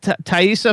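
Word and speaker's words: Taissa: pronounce all the names, but how do you pronounce Thaisa Farmiga?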